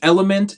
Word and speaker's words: Elymvnt: bring it in yes my name is element is spelled e l y MV NT song is called wake